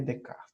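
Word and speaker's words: Descartes: Português se chama descascar mas a pronúncia francesa Renê de cá então de kart é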